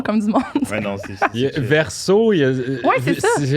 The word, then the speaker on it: Versos: Ouais, non, Verso, c'est ça. C'est verso au pluriel, alors le S, moi, je le prononce pas.